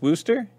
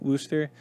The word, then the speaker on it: Worcester: No, I don't think the CH is actually in it, but I know people call it Wooster.